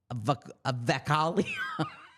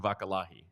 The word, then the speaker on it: Vakalahi: Okay, I believe it's Lakin Vakalahi. Yeah, there you go, Lakin Vakalahi.